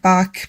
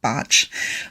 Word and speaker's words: Bach: And it looks like Bach, but he was Welsh and it's pronounced Botch.